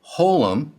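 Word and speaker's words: חוֹלֶם: The long O class vow hole appears over and to the left of the consonant and is pronounced like the O in roll.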